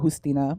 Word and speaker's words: Justina: It's a Cuban name, so like they pronounce it Justina, but we're in America, so we do that.